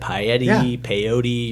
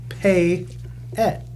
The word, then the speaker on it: Payette: We can't drink that much because everyone's mispronouncing it. Payette, Peyote. You're like, what? It's not that hard. Payette. I guess for us, just it sounds just like it's spelled.